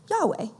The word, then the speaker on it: Yahweh: it translates in Hebrew it translates YH wh which we pronounce Yahweh so last week Kyle